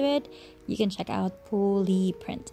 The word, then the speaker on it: poooli: you can check out pully print I think you should pronounce it as ply print because it has three O's now let's move on